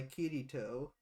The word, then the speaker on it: Kirito: the main character kazuto who goes by kirito um i'm gonna try and pronounce those names k-i-r-i-t-o h-i-r-o it's like